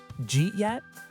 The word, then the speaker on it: did you eat yet: Jeet yet? Jeet yet? It sounds like one strange word. The did you becomes a J sound, J, and eat links right into it, jeet yet.